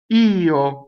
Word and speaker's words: io: Next, ch'io, io, right? Io is io, I, the word for I. It's two distinct vowels. The e getting most of the stress, right?